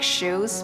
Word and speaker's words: Hsu: People will pronounce it like, so is it like shoes, but without the S, like shoe?